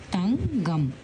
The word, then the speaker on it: தங்கம்: இப்போ இந்த காக்கு ngா தானே இணை எழுத்து, அதோடு சேர்ந்து தங்கம். இப்போ இங்கே வந்து தங்கம்னு சொல்ல மாட்டோம். நம்ம இந்த காவை வந்து எப்படி சொல்லுவோம் பார்த்திங்கன்னா, நம்ம மென்மையாக தான் உச்சரிக்கணும். க அப்படின்னு சொல்லாமல் க அப்படின்னு சொல்லுவோம். தங்கம், தங்கை, சங்கு.